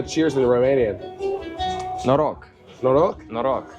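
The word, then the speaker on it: Noroc: right how do you say cheers in Romanian noro noo noo n o r o k yeah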